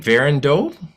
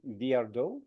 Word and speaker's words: Viardot: Derek, you might be better at pronouncing the name. Verandeau? Pauline Viardot.